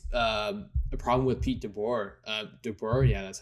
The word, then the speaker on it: DeBoer: But I've been hearing it's a problem with Pete DeBoer.